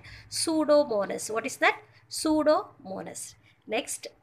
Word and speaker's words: Pseudomonas: Pseudomonas. What is that? Pseudomonas. P is a silent. Okay, va? P is silent. Don't pronounce that. Pseudomonas.